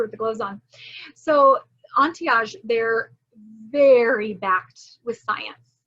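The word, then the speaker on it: Antehage: you mute everyone um so until we met ontiage and i love their name entiage it's spelled a-n-t-e-h-a-g-e entiage when i'm typing oh let's save you oh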